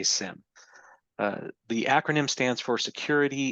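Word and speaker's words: SIEM: I've heard it pronounced 17 different ways. I'm going to say SIM.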